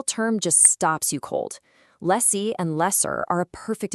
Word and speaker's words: lessee: Lessie and lesser.